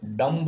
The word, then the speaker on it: dumb: For example यहां पर जितने भी शब्द दिए, इसमें यहां देखिए, यहां पर बी साइलेंट है। DUMB डम्ब बोलना चाहिए हमने, डम्ब यानी गूंगा, लेकिन हम इसे डम कहते हैं।